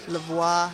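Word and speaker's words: La Voix: trains at your studio lavois did I say it right lavois Studio that's right lavois studios in Studio City French for The Voice how long has You'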